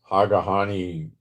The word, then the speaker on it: Hagahani: Hagahani rhymes with Kamani.